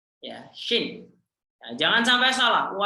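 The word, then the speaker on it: شين: Sin, shin. Sin, shin. Kalau tidak punya titik namanya sin biasa, S lah kalau dalam bahasa Indonesia. Sedangkan kalau dia punya titik 3 namanya shin. Ya, shin.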